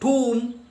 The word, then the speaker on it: tomb: Since the discovery of his tomb, B is silent, tomb, not the tomb, B is silent.